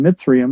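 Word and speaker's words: Mizraim: came out of Noah's grandson Mitsum, that's how that's pronounced, made it there.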